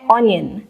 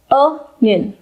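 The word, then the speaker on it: onion: जब इसके दाम बढ़ते हैं तो इसकी चर्चा बहुत होती है और हम इस वर्ड को प्रोनाउंस करते हैं ऑनियन, लेकिन इसका करेक्ट प्रोनाउंसिएशन होता है अनियन, अनियन, अनियन, अनियन।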